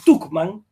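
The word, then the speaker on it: Tuchman: Bárbara Werte Tucman. Se escribe Tchman con ch.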